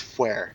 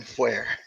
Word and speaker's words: Fuer: It's Fuer. It's always been Fuer.